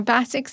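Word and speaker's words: BASIX: government requirements like basics Now basics is B A S IIXIX and that's mainly relates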